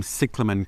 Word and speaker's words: cyclamen: Cyclamen is probably the most appropriate way to pronounce it, although in Australia people tend to say cyclamen.